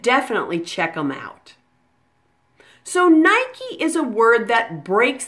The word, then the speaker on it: Nike: in happy or baby try it with me Nike Nike and here's a practice sentence how do you